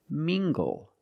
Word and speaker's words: mingle: Mingle using the nasal m sound and the hard g.